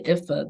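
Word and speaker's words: Ifá: But there is, so what religion practices that you see is the Ifa, the Yoruba tradition. And I don't always pronounce that right, but it's IFA.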